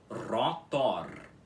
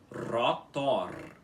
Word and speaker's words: rotor: Rotor, rotor, com os dois R's enrolados, tudo bem?